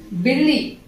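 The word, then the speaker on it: बिल्ली: 'பில்லி' என்ற வார்த்தையை, அது தமிழில் எழுதப்பட்டிருக்கிறது என்பதற்காகத் தவறாகப் புரிந்துகொள்ளாதீர்கள் . தமிழில் எழுதினாலும் அது 'பில்லி'தான், அதனால் 'B ' ஒலியைச் சேர்க்க மறவாதீர்கள்.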